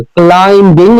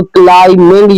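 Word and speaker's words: climbing: तो ये जैसे ना, क्लाइमिंग, क्लाइंबिंग नहीं पढ़ते हम इसको, क्लाइमिंग, यहाँ पे बी क्या है, साइलेंट है, द माउंटेन।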